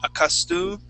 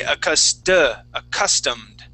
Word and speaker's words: accustomed: Now, remember, this is going to be a short U sound.